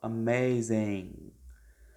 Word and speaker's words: amazing: Quando vocês forem falar o finalzinho, o N, vocês não vão pronunciar a letra G. Vocês vão pronunciar o N puxando a língua para trás.